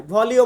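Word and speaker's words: voglio: মানে হচ্ছে আমি চাই ভলিও মানে আমি চাই একই এখানে আরোর জন্য আমরা লর উচ্চারণটা করবো না মানে এল এর উচ্চারণটা আসবে না এখানে হবে আমি চাই ভেনিরে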